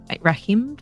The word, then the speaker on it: Rahim: let me see ra Rahim Rahim that's how you pronounced your name says I am like